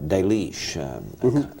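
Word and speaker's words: Delitzsch: he discusses a commentator de leash human de leash is a commentary about dating back into the last century some some sake I loved a leech to use the German pronunciation it's a commentary that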